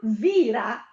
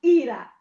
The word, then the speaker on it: vira: Se io dico l'eulaur vira, non dico l'eulaur ira, dico l'eulaur vira, perché la parola laur finisce per consonante.